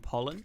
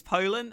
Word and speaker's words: Pollin: of his own flashbang can he stop saying pollen wait don't tell me it's pronounced like Pollin or something don't tell me I've been saying his name wrong this whole time oh no oh no no no oh my god it is it's Pollin oh god damn it